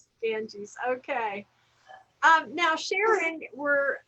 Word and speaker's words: Ganges: So that would be Ganges, actually, the Ganges, not Ganja. The Ganges. Okay, the Ganges River.